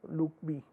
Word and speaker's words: LOOCV: Note that the cross validation is often abbreviated as CB, and leave one out cross validation is referred to as LOOCB and pronounced loop B.